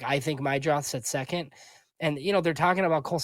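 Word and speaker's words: Meidroth: Chase Mydroth.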